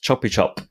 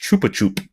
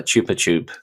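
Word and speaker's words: Chupa Chups: online that apparently uh it's not pronounced choppy chop it's actually pronounced Chupa chup because it's Spanish I believe it's it's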